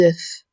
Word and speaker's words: œufs: Moi, je veux 10 œufs. ما كنطقوش هاد F. 10 œufs durs. هنا إلا كانت في المفرد كنقولو un œuf. Un œuf. كنطقو F ولكن في البلوريال كنقولو 10 œufs.